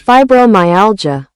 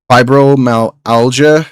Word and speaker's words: fibromyalgia: Fibromyalgia. Fibromyalgia.